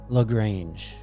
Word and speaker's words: LaGrange: LaGrange.